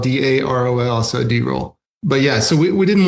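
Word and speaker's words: Darol: We call him D-roll because we got a couple of Daryls, and his is spelled D-A-R-O-L, so D-roll.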